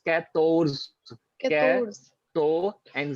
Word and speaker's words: quatorze: to sound 14, it's quatorze, Quatorze. to and z, quatorze, right? You have to put in three syllables, quator and z, quatorze, right?